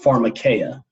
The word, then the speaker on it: pharmakeia: It's pronounced pharmakeia.